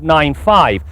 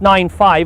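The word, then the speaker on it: 9-5: This week we take a look at the all-new Saab 9.5, and it is pronounced 9.5 and not 95.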